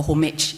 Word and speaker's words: homage: a Act of homage a homage if you don't use the silent h so when we look